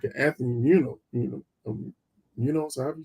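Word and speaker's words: Muñoz: And it's the same team that had a guy like a Hall of Famer like an Anthony Munoz, however you say his name. Munoz, thank you.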